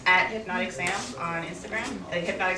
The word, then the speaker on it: Hpnotiq: Hypnotic spelled like drink, HPNOTIQ, Sam.